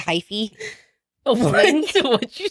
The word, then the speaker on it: hyphy: No, hyphy. What hyphy? Is that? Yeah. Okay, well, it's old, but, you know, wait, it's good. Hyphy. How do you spell it? It's not hype, okay? It's H-Y-P-H.